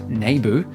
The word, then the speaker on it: Naboo: Back on Naboo, or as George pronounces it, Naboo, Jar Jar leads the